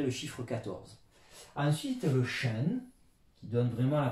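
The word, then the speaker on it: 什: Donc SHI, ça donne la prononciation SHEN.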